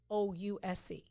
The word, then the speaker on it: chouse: It's spelled CHOUSE. Pronounced chouse.